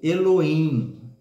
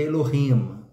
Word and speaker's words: Elohim: se referir a Deus e sim Eloim que se fosse pronunciar no hebraico seria Elohim né mas a gente